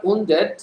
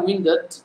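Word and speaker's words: wounded: আমার সাথে উচ্চারণ করেন উন্ডেড, যদিও ব্রিটিশরা উচ্চারণ করে উইন্ডেড, ব্রিটিশরা উচ্চারণ করে উইন্ডেড, তো আমেরিকানরা উন্ডেড ইউজ করে এবং সেটা মোটামুটি যেটা চেহারা, এই চেহারার সাথে মিলে যায়।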